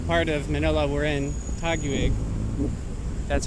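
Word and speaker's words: Taguig: this is the part of Manila we're in tacky week that's how you pronounce it and Bonifacio Global City is part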